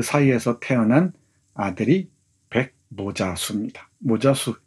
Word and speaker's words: 모자수: 모자수 이름이 좀 이상하죠? 근데 모세라는 말의 일본식 발음입니다.